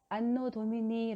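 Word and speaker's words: Anno Domini: 그리스도 이전 기원전 이고 ad 는 라틴어 인데 안노 도민이 라고 읽어요 그 뜻은 바로 우리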